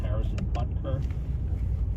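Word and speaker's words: Harrison Butker: the that's happening the Harrison buter I always have to stop on his name Harrison buter that's how you say it he's the kicker for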